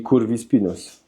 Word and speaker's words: curvispinus: Curwispinus przez c, ale c po hiszpańsku czyta się k, czyli kurwi spinus.